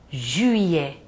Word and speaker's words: juillet: A letrinha U, a vogal U, vocês têm que fazer um bico com a boquinha. U. Vejamos o mês de julho. Juillet. Não é ju, é ju. Tem que fazer esse movimento com a boca. E fica. Se vocês não pronunciarem assim, não fica certo.